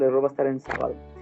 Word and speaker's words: sábado: El acento sábado es una palabra esdrújula, ¿verdad? Las palabras esdrújulas son aquellas que terminan con más fuerte en la sílaba antepenúltima, ¿verdad? La antepenúltima viene siendo esta. So, sábado lleva acento en la primera A, sábado.